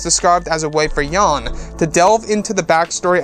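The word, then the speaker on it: Yahn: his travels across the galaxy yes subscribe that yon why a H n is how it's spelt in the sequence is saying goodbye to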